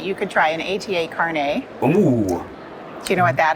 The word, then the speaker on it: carnet: into cameras microphones so it's not pronounced carnet like a lot of people know not like a hairnet know it's it's carne